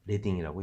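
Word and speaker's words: leading: 실은 이게 리딩이 아니라 레딩이라고 읽습니다. 레딩은 뭐냐면 납 있죠. 납. 몸에 안 좋은 그 납. 옛날에 프린팅 작업을 할 때에 행간을 맞추기 위해서 납을 사용했다고 하죠. 그래서 거기에서 나온 단어로 리딩이 아니라 레딩이라고 읽는다고 하죠.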